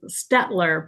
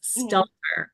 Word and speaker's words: Stelter: I'm gonna say her name wrong because I started saying it. Stler, but it's Stelter.